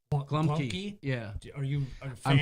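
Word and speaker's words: gołąbki: Well, I know it's spelled Globki, but Glumki?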